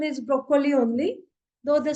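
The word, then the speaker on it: Brokkoli: is uh pronunciation is broccoli only though the spelling is different the Double C is replaced by Double K but the pronunciation is exactly same as in English zukini same in there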